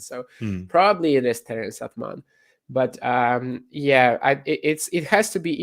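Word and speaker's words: Atmane: Atman, I think they were saying Atman, Terence Atman. Maybe that's the English pronunciation, and I'm completely butchering it. Like the E should be more or less silent in French.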